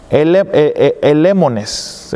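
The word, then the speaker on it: ἐλεήμονες: se lee, la palabra, lo voy a leer como se puede pronunciar en español, elemones, se escribe E-L-E-E-M-O-N-E-S, se escribe y se pronuncia elemones, elemones.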